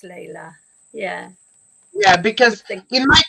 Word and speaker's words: Layla: In my country, pronounced. Maybe in English it's Layla, possibly. Is it L-A? L-A-I-L-A. Probably Layla. Yeah, I would think it's Layla.